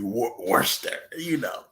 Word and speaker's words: Worcester: So he became successful, put it on the bottle, and the Air was for it's actually Worcester, Worcester.